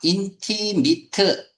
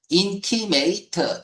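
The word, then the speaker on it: intimate: 인티미트 형용사나 명사로 쓰이면 A 발음이 ET 이렇게 발음이 되고요. 인티메이트 동사로 쓰일 때는 AT가 AT 요렇게 발음이 되죠.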